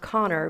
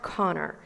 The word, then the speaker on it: Conchobar: For example, Connor is pronounced Connor, but it's spelled like Conchobar, like it's Conchobar. Yeah. Yeah. So, but it's pronounced Connor.